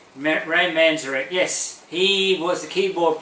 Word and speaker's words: Manzarek: Now, I never get this name pronunciation right. Ray Manzarek? Ray Manzarek, yes.